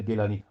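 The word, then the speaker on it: Gilani: नाम सैयद अब्दुल कादिर गलानी ब्रैकेट में इन्होने जलानी लिखा है क्योंकि बाज लोग इसको गेलान प्रोनाउंस करते हैं गेलानी और बाज लोग इसको जिलान प्रोनाउंस करते हैं जलानी लिखते हैं कि ये सैयद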